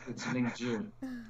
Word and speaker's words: Lingzhi: But now you know it's Lingzhi. And if you do, would you let me know what it tastes like? The ZH is like a J sound.